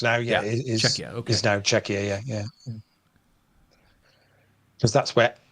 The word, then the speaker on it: Czechia: couple no don't don't isn't it not it's pronounced czechia isn't it not CA yeah check it c